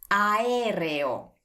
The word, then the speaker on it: aereo: A, E, R, E, O. Aereo.